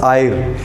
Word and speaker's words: Eyre: पहला कौन था, चार्ल्स आयर, ठीक है, चार्ल्स आयर, EYRE है इसकी स्पेलिंग, हिंदी में मुझे लगता है आयर ही बोलेंगे, और शायद आप लोग मुझसे ज़्यादा स्मार्ट हैं, आप बता देंगे।